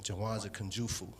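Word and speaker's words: Jawanza Kunjufu: it's called black economics but i'm going to mispronounce this first name i want to say uh jawanza kanjufu right that's it that's correct if you if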